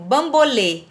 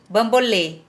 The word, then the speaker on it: bambolê: para você, por exemplo, que o acento circunflexo, ele representa o som fechado da vogal. Ó, vou te dar um exemplo. Bambolê. Bambolê. Observou como que tá a minha boca? Agora, se eu digo boné, percebe que é aberto?